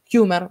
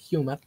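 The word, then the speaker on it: Huemer: apelación al sentido común humer muchas veces o hemer como le quieran Llamar creo que el apellido se pronuncia humer Michael humer este los libertarios nos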